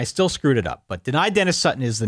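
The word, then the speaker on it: Dani Dennis-Sutton: It's deny Dennis Sutton. Deny Dennis Sutton. DDS. Deny Dennis Sutton. Yep. I knew better, and I still screwed it up. But deny Dennis Sutton is the name to watch.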